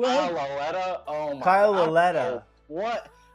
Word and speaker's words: Kyle Lauletta: Kyle Latue? Kyle Lauletta.